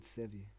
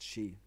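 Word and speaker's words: sídhe: driven underground into the hills which were called savee which is pronounced she so I that up already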